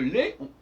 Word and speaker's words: les: Et dans le les, et dans mes, on ne prononce pas le S.